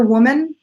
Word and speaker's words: woman: woman oh good woman second syllables either a schwa or a short I sound it woman woman